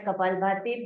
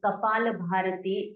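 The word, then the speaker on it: कपालभाति: most popular Shi Kaa named as kapal bti but wrongly pronounced as kapal bharti and wrongly considered or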